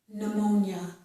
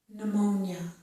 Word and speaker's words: pneumonia: Whenever we have a word that starts with P-N, we do not pronounce the P. So this starts with the N sound, or N, pneumonia, pneumonia.